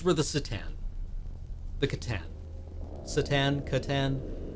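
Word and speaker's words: C'tan: Catan. I guess it's a hard C. I prefer the soft C.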